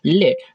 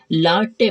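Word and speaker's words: late: ला टे नहीं पढ़ के हम इसे लेट पढ़ते हैं ठीक है तो लेट का जो यहां पर ई है हमारा साइलेंट रहता है और ए भी यहां पर साइलेंट रहेगा तो इसे हम क्या पढ़ेंगे लेट पढ़ेंगे ठीक है जो ए होता है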